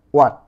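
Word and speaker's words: who: এখানে দেখো ডবলিউ এইচ এটি এটির উচ্চারণ কিন্তু হোয়াট নয় হয়াট এটা কিন্তু ম্যাক্সিমাম মানুষে হোয়াট হোয়াট বলে থাকে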